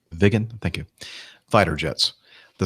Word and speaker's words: Viggen: Is that the way you pronounce that? You're muted. Yes, Jeff, that's exactly right. Viggen, thank you.